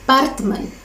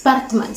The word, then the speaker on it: Baartman: her name was Sarah partman um I'm pronouncing it like that because it's South African pronunciation so it's Batman Sarah Parkman um yeah